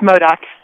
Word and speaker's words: Modoc: It's Modoc. Okay, the Modoc County Board of Supervisors in the state of California.